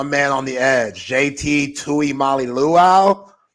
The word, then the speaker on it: Tuimoloau: How do you pronounce my man on the edge? JT Tuimoloau? Tuimoloau. Tuimoloau. Oh, man. Tuimoloau.